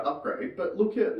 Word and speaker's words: Upgrayedd: Upgrade. Upgrade. They just developed some stupid thing. Upgrade is spelled UPGRAYEDD.